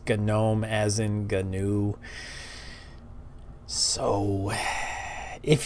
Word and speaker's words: GNOME: I know many of you think that it's pronounced gnome but it's actually not it's a gnome as in canoe so if you called it